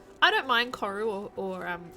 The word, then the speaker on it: koru: the Māori people by pronouncing it koru all the time when it's koru, but I also don't expect any of you to say koru because it's the Māori pronunciation.